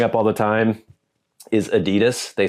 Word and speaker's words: Adidas: advertises their products in the US they say Adidas that's what I was taught to say that's what all Americans say if I ran around saying Adidas even though I know that's how it's supposed